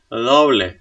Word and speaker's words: doble: No, because the rule says that this should be a strong D. Why? Because it's syllable initial before a vowel. So it should be a strong B. Then. And it's doble. Doble. Doble. So the ble part is soft and the do is strong.